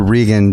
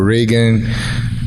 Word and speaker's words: Rigan: I'm calling you Rigan, but the real pronunciation is Rigan, right? Rigan Machado. Because in Brazil, the sound of R is the same sound here in America, H.